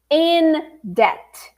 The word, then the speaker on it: debt: expression is I am in debt. I am in the red, no money in the bank. I am in debt. Repeat. I am in debt. Yeah, and the B is silent, okay?